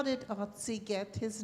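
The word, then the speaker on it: Ötzi: they just named him Otzi, but that is an American pronunciation. Kate, go ahead and tell me how he... It's Otzi if you're German.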